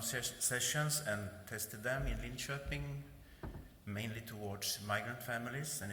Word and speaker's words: Linköping: Linköping is the pronunciation.